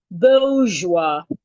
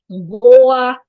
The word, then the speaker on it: bourgeois: The next word we have is bourgeois. B-O-A. The O-U-R here sounds O-A. Bo-O-A. Boa. O-A. This is the O-A sound. Bourgeois. Wow. Bourgeois. Bourgeois. You're stressing the first syllable.